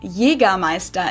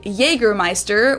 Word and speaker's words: Jägermeister: By the way, from shoes to alcohol, this is pronounced Jera Meister in German. Jeramea. English speakers usually say Jägermeister, which is pretty much the same, just with a pretty thick accent.